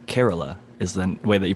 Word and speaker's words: Kerala: do it whoever that is i think it's kerala not to be like to uh india specific but somebody who corrected me it's kerala is the way that you pronounce that little area in india and then